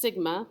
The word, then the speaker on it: sigma: So it's the Greek, didn't leave you enough room here, capital letter for S, pronounced sigma, which stands for sum.